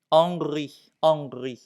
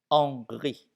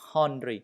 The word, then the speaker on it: Henri: Henri. Le H, on ne prononce pas. Henri. Ce n'est pas Henry, non.